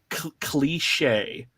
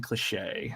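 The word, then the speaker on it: Klee'shae: captain uh Captain uh cliche kle e sh AE Captain cliche is is how I'm assuming she pronounces her name um she's the silent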